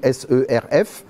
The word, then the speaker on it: serf: un seigneur et un ser mais quand je dis un ser ça s'écrit s e r f on pourrait dire un serf mais et après dans